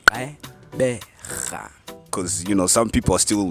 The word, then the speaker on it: Gqeberha: bonus, and he taught people how to properly pronounce it. Yeah. With my lips, it's Gqeberha.